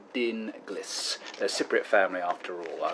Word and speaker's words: Dinglis: you pronounce it he said the name is pronounced Dean Gliss there's Cypriot family after all thanks and evening